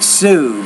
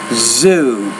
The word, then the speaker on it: zoo: the one word Zoo you're almost pronouncing that like Sue but Zoo make sure you you vibrate the Z consonant sound there Zoo three as